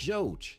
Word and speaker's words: żółć: Take żółć, just 4 letters. Easy, right? Wrong. You've got the Polish zia, the nasal o, the soft wa, and then the sharp chi at the end.